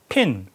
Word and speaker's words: PIN: PIN, Personal Identification Number.